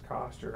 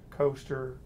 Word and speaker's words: Koster: Well, my last name is Koster, and I've heard Coaster, Caster, so I apologize, but as one who feels your pain for that.